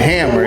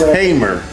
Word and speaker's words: Hamer: And she had been trying all I said Hamer. It's Miss Hamer. The direction of Fannie Lou Hamer's said her last name wrong.